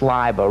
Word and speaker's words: Leiber: Fritz Leiber, as I pronounce, you can pronounce it Lieber either way. Fritz Leiber wrote Conjure Wife, which was made into a movie called Burn Witch Burn.